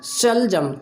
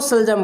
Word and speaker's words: शलजम: तो उसको बोलना चाहिए जैसे सलजम, शलजम, थोड़ा सा स को क्या करना चाहिए, थोड़ा सा खींचना चाहिए, शलजम, ना कि वो सलजम बोले, ठीक है।